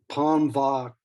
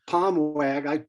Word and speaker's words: Palmwag: listening to people tell, because Palmwag, that's how I pronounced it first. We got up there and they said, "Oh no, it's Palmvak," and it's just, yeah.